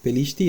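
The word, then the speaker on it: פלשתי: pantalla ven filisteo pishti así se pronuncia pishti así como está transliterado pishti que es la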